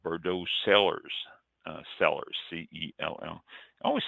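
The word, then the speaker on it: Cellars: called bordeaux sellers uh sellers c-e-l-l always sounds like i'm saying sell sellers s-e-l but it's sellers i guess they're both pronounced the same way there's no big difference they were duping investors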